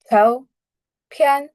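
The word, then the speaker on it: 照片: দেন photo, ঝাও ঝাও ঝাও ফিয়ান, দুটাই উপর থেকে নিচের দিকে, ঝাও ফিয়ান, ঝাও ফিয়ান, অর্থাৎ কি ফটো, ঝাও ফিয়ান।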